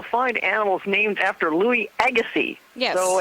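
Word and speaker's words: Agassiz: animals named after Louis Agassi yes so if you have something that has that weird name it pronounces Agassi I need a life correct something like that right and we're in the Agassi Valley right now yep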